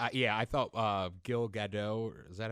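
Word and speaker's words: Gal Gadot: But then like Yeah, I thought uh Gilgado. Is that how you pronounce it? Gail GDO.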